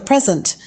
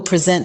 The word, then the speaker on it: present: excited to receive a present on her birthday, wrapped in colorful paper. However, as a verb, present is pronounced with the stress on the second syllable, like in the sentence, he will present his findings at the